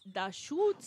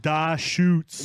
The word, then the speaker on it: Deschutes: Very exclusive to Hawaii, with the Hawaii Islands on it, and instead of Deschutes, which is spelled with the CH, Please tell me it's the shoe. it's Deschutes, Oh, brah. wait. Da shoots.